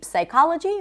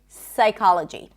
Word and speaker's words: psychology: Whenever there is a PS at the beginning of a word, the P is not pronounced. So we don't say psychology, we say psychology.